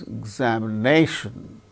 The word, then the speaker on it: examination: syllable see for instance examination examination exam how many syllables are there igation five syllables so igation n so fourth syllable gains primary stress more importance another word